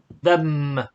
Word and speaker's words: them: them then them yeah you have to close the mouth here them right them close your mouth then mhm then yeah